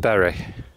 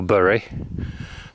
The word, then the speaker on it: Bury: So, we're outside the town of Berry or Bur depending on how you want to pronounce it.